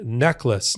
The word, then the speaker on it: Necheles: organization that falls on Susan necklace not spelled the way it sounds but that's the way she pronounces it she is the lead